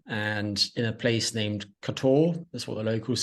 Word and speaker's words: Kotor: I'm in Montenegro and in a place named Kotor, that's what the locals say, or Kotor, Kotor.